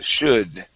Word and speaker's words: should: Instead of shoe with an oo sound, it's should.